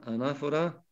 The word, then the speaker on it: anáfora: La palabra anáfora y la palabra catáfora. A-N-A-F-O-R-A, con acento en la segunda A.